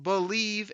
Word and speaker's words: BLEAV: It's called Believe in Lions, and that's spelled BLEAV on the Believe Podcasting Network, with both myself and Lions legendary safety Benny Blades.